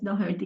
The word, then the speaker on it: Doherty: Doherty, parang ganun ang nadidinig ko pronunciation. So, Doherty talaga ang pronunciation, Doherty? Yes, Doherty.